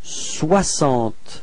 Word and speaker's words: soixante: And then comes soixante. Okay, so same thing as we had for this. So this X is pronounced like S.